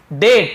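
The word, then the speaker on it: debt: अब आगे बढ़ते हैं डेट इसे डेप्थ करनी पड़ेंगे बी साइलेंट होता है केवल दे डेट यानी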